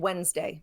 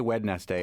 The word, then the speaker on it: Wednesday: name okay D yeah I only know of three handkerchief handsome and Wednesday oh wow and they're pretty common ones oh yeah Wednesday I have a tight deadline emphasis on dead I still say wed Nest day every time I spell it I do